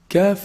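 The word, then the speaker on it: ك: Kaf is pronounced from the back of the tongue, but it's actually closer to the mouth from the qaf articulation point.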